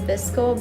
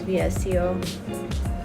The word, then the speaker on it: VSCO: import them to vseo I'm not even pronounce it as visco but I prefer pronouncing that's vsco teach their own voltage